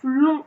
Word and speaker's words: long: Mais on sait que l'adjectif long au féminin, c'est longue. Et là, on entend longue. Et on entend qu'il y a un G à la fin. Donc, on sait que l'adjectif au masculin, il va se finir par un G que l'on n'entend pas, mais qui existe.